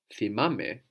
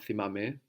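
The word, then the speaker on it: θυμάμαι: And do you notice something strange about thimame? If you compare chryazome, erchome, thimame. It's ame, not ome. Good, it's ame. And what else do you notice though? Erchome, chryazome, thimame. The accent is on the ame.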